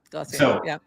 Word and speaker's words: Glossier: Like, yeah, I think they do it for like the somebody had mentioned like the makeup brand Glossier. I don't even know. Am I pronouncing that right? Yeah, Glossier.